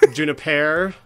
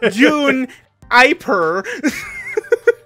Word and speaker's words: Juniper: It's pronounced Juniper. Juniper. Not June-iper. Juniper.